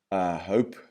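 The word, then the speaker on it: HOLP: section in that book called hope lope and you spell that h-o-l-p or l-o-h-p and it stands for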